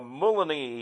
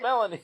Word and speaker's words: Melanie: and stuff like now here's uh um uh Mulaney you know or something you know like no no it's Melanie yeah no I know but